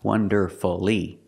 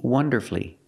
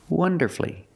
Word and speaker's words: wonderfully: changes to three syllables it's not wonderfully we don't make it for when you put Le after these words so when you see f l l y don't pronounce that U shorten the word and make it three syllables like masterfully beautifully now